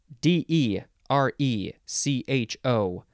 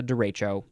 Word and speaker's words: derecho: I'm having a derealization next de Rachel d e r e c h o noun from 1889 it is a large fast-moving